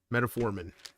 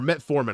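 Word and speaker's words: metformin: am I missing here metaformin or met foran I always say it wrong met foran yes I always say metaformin like it's a meta met foran met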